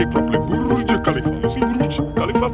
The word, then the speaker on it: Burj Khalifa: Burj Khalifa.